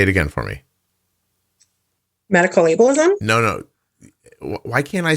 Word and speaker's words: ableism: use this word which why can I not pronounce it say it again for me medical ableism no no why can't I say a b